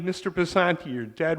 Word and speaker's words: Picente: My name is Picente. There are Picentes out there, and I don't want them offended by your saying it. So it's Picente. You know how to say it. No, you say it Picente. Okay. No, my father said it that way, and I would appreciate if you did the same.